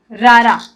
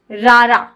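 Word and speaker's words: ਰਾਰਾ: रारा, RAR double A, रारा, यय्या, रारा।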